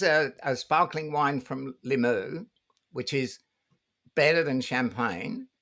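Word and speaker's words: Limoux: I say Limu as if I know my French pronunciation, but I may well not do.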